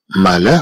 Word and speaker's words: malin: إذن malin comprend le son 1 et c'est écrit avec IN à la fin du mot.